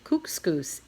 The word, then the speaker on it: Kookooskoos: better the camp anyway welcome to camp coups cous it rhymes with moose that's another good thing